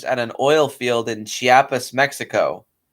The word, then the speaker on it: Chiapas: an oil field in chiapas mexico or pardon if i butcher that i'm not super good at latino words and hires him huh no that was fine you said it right chiapas and he hires earl